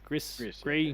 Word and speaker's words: Gris: Never, I believe, was always the pronunciation. It was the next game from the team who did Gree or Gris, Gree, okay.